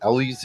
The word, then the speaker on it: Elwes: do enjoy Kevin Costner I love Cary Elwes Ellie's how he pronounces it Indyk and the comedic men and